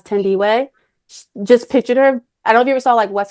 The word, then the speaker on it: Thandiwe: Um and she'll hopefully forgive me for this, Thandie Newton and I think she pronounces it now as Thandiwe.